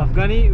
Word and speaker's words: Afghani: Afghani, we call inside Afghanistan, we call Afghani. Afghani. But if you pronounce it in English, that's Afs.